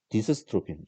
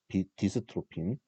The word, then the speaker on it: 디스트로핀: 어, 디스스트로핀, 교수가 그냥 스트로핀이라고 발음해버리네요. 미안합니다. 디스스트로핀, 미안합니다. 발음 자꾸 꼬이네요. 디스트로핀.